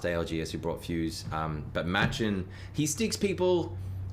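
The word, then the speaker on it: Match1n: I'm a huge fan of Machin. If you don't know Machin is spelled M-A-T-C-H-1-N, the number 1-N.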